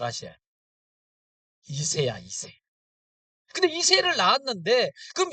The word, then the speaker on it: 이새: 발음을 잘 하셔야. 이새야, 이새.